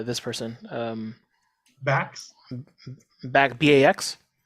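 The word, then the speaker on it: Backes: person um backs back b-a-x b-a-c-k-e-s okay this is a weird way to spell it but I I didn't make it up uh and I'll say uh Bax weed we talked very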